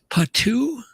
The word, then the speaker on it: Potoo: It is called a patoo, but I think it's Potoo.